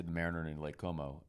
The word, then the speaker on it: Como: we're bopping over to Lake Como, which Jeremy was pronouncing Cuomo for the longest time. I thought it was related to the governor for some reason. I thought I wasn't going to go if he kept pronouncing it like that.